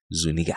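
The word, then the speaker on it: Zuñiga: is the man's name it is spelled z-u the N has a mustache on top like Spanish IGA Zuniga I swear to God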